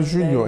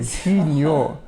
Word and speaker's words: Junior: Et pas Junior, Junior. Faut prononcer la créole.